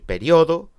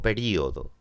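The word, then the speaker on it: período: llevar tilde o no se puede decir periodo o periodo se puede decir alvéolo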